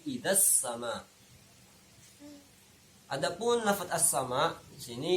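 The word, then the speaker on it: إِذَا السَّمَاءُ: Idzas sama, idza ini tidak ada hukum bacaannya karena ada al bertemu dengan huruf sin, maka kita tahu ini hukumnya adalah asy-syamsiyah. Nah, idgham syamsiyah, sehingga bacanya tidak idzal sama tapi idzas sama.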